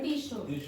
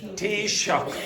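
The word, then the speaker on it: Taoiseach: So, how do you pronounce that again? T-shock. T-shock.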